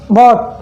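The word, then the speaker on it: bought: और ऐसे हो गया बॉट, बॉट यानी खरीदना, आप इसे बाउट मत पढ़ना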